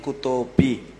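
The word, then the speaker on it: कुतोऽपि: Kuta Ha Api, but the way it is written, the A there is actually called Lupta or not mentioned, but it is there.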